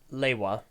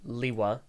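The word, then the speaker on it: Lewa: a cool guy anyway so the official Canon pronunciation technically is leyla even though it is said Lee WA and it said Lee why in generation 2 and it isn't spelled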